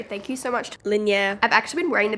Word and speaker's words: Linjer: My brain wants to say linger. Obviously, that's incorrect. It's pronounced linear.